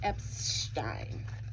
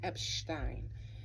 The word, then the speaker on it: Epstein: specific to call him Epstein. Epstein is like the American way to pronounce it, and I feel like it was a pet peeve for him to be called Epstein when it's Epstein.